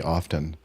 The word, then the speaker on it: often: except for in words like often. I mean, I guess I violate because Often? most people now say often, but I say often because that's the way I learned it with a silent T.